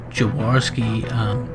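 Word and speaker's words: Jaworski: living where I do I really struggle with polish names so I'm gonna spell it out for you but it's Paul jawarski and that's Jay a wor sk I and somebody will certainly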